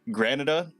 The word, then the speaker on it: Granada: this, but I'm gonna pronounce it as Granada. Like Canada, but grand.